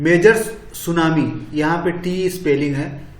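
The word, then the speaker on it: tsunami: major सुनामी यहां पर एस यू एन एस सुनामी पढ़ा जाता है टी साइलेंट रहता है ये चाय ये जापानी इस वर्ड है इसको सुनामी टी सुनामी नहीं पढ़ाया जाता है टीको साइलेंट रखा जाता है लेकिन टी लिखा जाता है सुनामी 26 दिसंबर 2004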